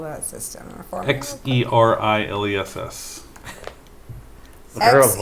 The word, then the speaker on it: Xeriles: Xeriles. XER. Xeriles, the zero-less system. Okay. Think of it as being Greek, and it becomes a lot easier.